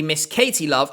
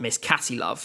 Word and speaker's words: Miss Katie Love: By the way, it is definitely Miss Katie Love and not Miss Catty Love. And I actually know this because I checked in with her before making this video to check I got the pronunciation right.